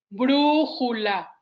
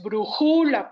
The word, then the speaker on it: brújula: realice ese ejercicio y estoy pronunciando, como yo lo hice, brújula, para que distingan cuál es la sílaba tónica y hago la correlación. No es brújula, porque entonces la sílaba tónica sería ju.